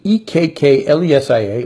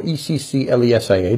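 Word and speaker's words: ἐκκλησία: God the place of ecclesia a ek que le si a or Eccl ESA a depending on how you spell it in the Greek word which means the called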